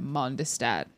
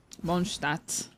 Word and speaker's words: Mondstadt: I definitely pronounced Mondstadt, Mondestadt. I added a whole syllable. Mondstadt.